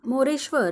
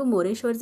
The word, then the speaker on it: मोरेश्वर: इथे आर लिहून घेतला र हा शब्दात शेवटी आहे आणि जसं की मी सांगितलं शब्दात शेवटी व्यंजन आल्यास त्याच्यापुढे अ चा उच्चार होत नाही म्हणून आपण आर च्या पुढे ए लिहिणार नाही मग मोरेश्वरच स्पेलिंग काय तयार झालं